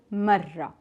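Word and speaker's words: مرة: First, let's see how to pronounce the word marra. We will start with the ma, ma, and then we will have the ra 2 times because it has shadda.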